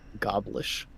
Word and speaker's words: Goblish: it tickles me that the L is pronounced in there it's like it's not gobbish it's goblish it's like English which I guess is